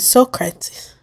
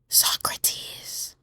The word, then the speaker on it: Socrates: printed at the end I had read Socrates but I had never pronounced his name so I said Socrates because that's the way I'd always assumed it was pronounced there was a moment's silent before I heard somebody whisper Socrates I looked over at this